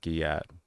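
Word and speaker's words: gyatt: Guat uh is a slang term pronounced guillat that serves as an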